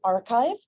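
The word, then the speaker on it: arXiv: you can go to Archive that is how it's pronounced despite the weird spelling um this is just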